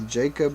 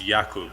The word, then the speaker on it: Jakub: This is a Jacob Motor. Yeah, so I'm gonna correct the pronunciation slightly because it's Jakub because he's Polish, Oh, but okay.